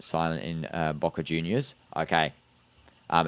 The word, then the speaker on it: Boca Juniors: The J is pronounced with a H sound. So BA Juniors. Yeah. So it's Boka Junior's with a H because J in Spanish is a H sound.